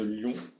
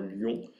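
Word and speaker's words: Lion: Alors il s'agit d'un optimizer du nom de Lyon, je le prononce en français, qui est issu d'une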